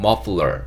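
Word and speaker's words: muffler: moffular 이렇게 발음하시면 되고요 다시 한번 목도리 발음해보면 머플러 이렇게 발음하시면 됩니다 자 다음 단어 넘어갈게요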